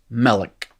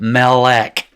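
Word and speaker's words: מלך: kind of monosyllabic it's melik right it's not mellick you didn't go asking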